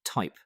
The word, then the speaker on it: THYP: 21 Shares filed a second amendment to its S-1 for a US hyper liquid ETF and disclosed the proposed Nasdaq ticker THYP, pronounced type.